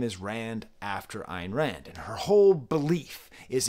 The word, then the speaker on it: Ayn Rand: Ayn Rand? How do you pronounce her name?